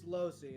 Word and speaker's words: Losey: Lucy. Do you pronounce it Lucy or Lozy? It's Losi. It's Losi.